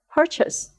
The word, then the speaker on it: purchase: learned England land England Chase when it appears at the end of this world there is a vowel change and it becomes chess purchase purchase Chase purchase three